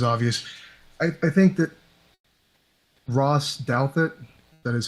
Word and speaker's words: Douthat: I think that Ross Douthat, that is how you pronounce his last name correctly, I think he